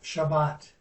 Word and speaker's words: Shabbat: Torah, How do you say Shabbat? Just Shabbat? Shabbat, Shabbat. Torah, Torah.